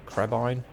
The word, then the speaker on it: crebain: So, murder of crows, call a swarm of cr- crebain. I think they I think they pronounce it crebain, don't they, in in the in the movies, at least.